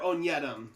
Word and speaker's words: Onyedim: Or Onyedem. That's the consensus on how to pronounce it.